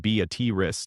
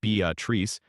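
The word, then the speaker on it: Beatrice: Beatatrice, pronounced Bat Ris, not Bat Trice, is the town that proved free land programs could actually work.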